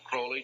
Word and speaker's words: Crowley: learned about was Aleister Crowley. He likes to have his name pronounced Crowley to rhyme with holy.